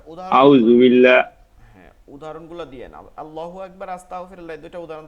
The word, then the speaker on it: আল্লাহ: বলেন জি আলহামদুলিল্লাহ বলেন আল্লাহ শব্দের লামকে দুই ভাবে পড়া যায় প্রথমত তাসজিদিদের ডান পাশে জবর অথবা ফেস থাকলে ল উচ্চারণ হয় অর্থাৎ লামটা লামটা ফুর বা মোটা মোটা উচ্চারণ হয় ঠিক আছে লামটা মোটা অথবা ফুর অথবা মোটা উচ্চারণ হয় যেমন আল্লাহু আকবার তারপরে আস্তাগফিরুল্লাহ তারপর রাসুলুল্লাহ আর আল্লাহ শব্দের বারিকটা বলেন আর আল্লাহ শব্দের আল্লাহ শব্দের ডানে অর্থাৎ তাজ্জিদের ডানে জের থাকলে বারিক বা চিকন বা পাতলা উচ্চারণ হয় যেমন বিসমিল্লাহির লিল্লাহির